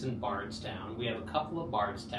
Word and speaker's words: Bardstown: They just mispronounced it. It's actually Bardstown. Bardstown.